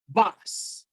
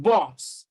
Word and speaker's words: bus: called the central sound it is bus bus box it is not boss and it is not bass so that is the